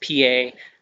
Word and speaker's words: pie: It looks like pie, but it is pronounced pie.